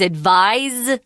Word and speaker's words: advise: this it's very important the verb is advised with a Z sound and the noun is advice and it is an S sound but it's spelled with